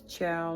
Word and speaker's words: ciao: I mean, it's not spelled like that, but anyway, it's ciao like a dog.